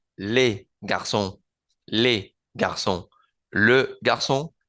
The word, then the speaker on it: les: Es el artículo, porque le singular se pronuncia le y el plural se pronuncia con la E del español. Les garçons, les garçons, le garçon, les garçons.